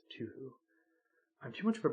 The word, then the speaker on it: Touhou: Touhou, pronounced Touhou.